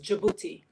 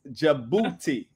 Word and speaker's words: Djibouti: pronounce the name and they always mess it up trying to put the D, but the D is silent. So it's Djibouti, but it's pronounced Djibouti.